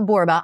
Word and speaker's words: Borba: Well, I'm Michelle Borba. I'm a 1L Michelle and Borba rhymes with Zorba.